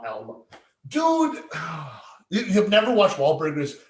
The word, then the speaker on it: Alma: Alma, yeah, like Al and Ma, Alma.